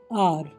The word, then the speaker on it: hour: HOUR, आर, एच की आवाज़ नहीं आ रही, सिर्फ OUR सुनाई देगा आपको, आर, यानी कि घंटा।